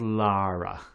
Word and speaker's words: Lara: be adults or seeming Laura Crawford Lara Lara sorry Lara don't let the Americans get you with their pronunciation her name is Lara not Laura make more sense given